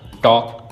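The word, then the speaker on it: talk: जैसे वॉक, टॉक, half. अब इसमें एल है लेकिन साइलेंट है।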